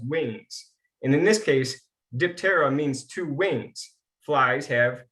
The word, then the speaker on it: Diptera: the scientific order is diptera or dipetra depends on how you pronounce it i'm not greek so i'm going to say diptera dye that first part